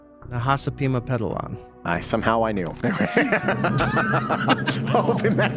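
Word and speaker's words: Nahasapeemapetilon: Do you know how to pronounce Apu's last name? Nahasapima Pedalon.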